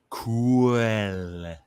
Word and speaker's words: cool: Did you know in Wales when they say cool, they go cool. Cool. Yeah, they pronounce the L.